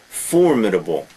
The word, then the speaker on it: formidable: uh criminal imitation formidable notice the pronunciation the first first uh syllable formidable formidable maybe but formidable is better a formidable opponent is